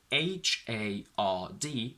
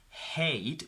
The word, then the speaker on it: hard: not a diphthong so the word h-a-r-d could never be pronounced as hate because a is the diphthong that generates from the letter a we can only say hard or hard in american pen becomes